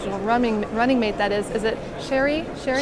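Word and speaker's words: Cheri Honkala: Her your vice presidential running mate, that is it Sherry Honkala? Sherry Honkala. That's right. I wanted to pronounce that right.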